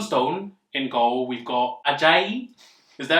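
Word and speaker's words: Ajayi: we've got john stone in goal we've got ajay is that how you say it yeah it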